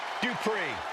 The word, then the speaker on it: Dupri: Here comes the talented Maxine Dupri. Uh, Michael, it's pronounced Dri.